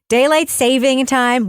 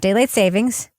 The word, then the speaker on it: daylight saving time: listen the SpaceTime Continuum daylight saving time which by the way is how you say it not daylight savings H it's daylight saving time which means that